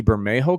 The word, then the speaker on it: Bermejo: I believe I saw, and please don't crucify me if I get this wrong, but I believe it's a Lee Bermejo cover.